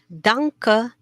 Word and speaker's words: danke: we have here your danke okay your n is pronounced a little bit like an ng danke okay here you